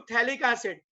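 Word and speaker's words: phthalic acid: Respect to each other, तो इसको थैलिक एसिड, एंड P is silent.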